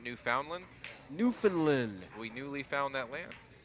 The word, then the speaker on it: Newfoundland: Newfoundland. Yeah. Not Newfoundland? Newfoundland. We newly found that land. Yeah, well, yep. Newfoundland.